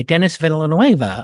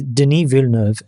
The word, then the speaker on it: Denis Villeneuve: It's the sequel by Dennis Villanueva of. It was my alternate background. First of all, his name is Denis Villeneuve, and if you're going to pronounce a Canadian's name, get it right.